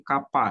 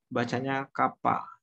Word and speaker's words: kappa: K ini sebenarnya tulisnya begini ya, bukan K ya, tapi kappa gini ya. Ini bacanya kappa.